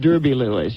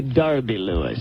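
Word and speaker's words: Derby-Lewis: Cruz's right is Clive we would say in the United States Derby Lewis you say Derby LS that's the English pronunciation and you're with the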